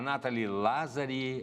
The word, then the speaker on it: Nathalie Lazzari: Estou recebendo aqui a Nathalie Lazzari. É essa a pronúncia, Nathalie?